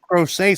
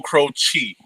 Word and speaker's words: Croce: Crochet. So we've been No, pronouncing it Nah, wrong. Yeah. it's Croce.